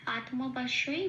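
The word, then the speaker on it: আত্মা: সংস্কৃত ভিন উচ্চারণ করব আত এটা একটা যুক্ত অক্ষর তয় আছে তটা আগে আছে হসন্ত লাগিয়ে তটাকে বার করে আনবো আগের অক্ষর আয়র সাথে জুড়ে উচ্চারিত হলো আত মটা যেমন আছে পূর্ণরূপে উচ্চারিত হলো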